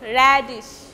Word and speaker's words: radish: Radish, this ISH will be unstressed. Radish.